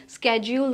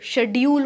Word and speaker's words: schedule: Routine होगा, जो भी स्केड्यूल होगा, जो शेड्यूल होगा, दोनों प्रोनाउंसिएशन सही हैं, एक ब्रिटिश है और एक अमेरिकन है। स्केड्यूल is American pronunciation and शेड्यूल is British pronunciation.